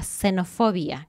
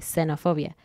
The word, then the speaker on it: xenofobia: comunes primero está la xenofobia con x pero se pronuncia suave xenofobia que es el miedo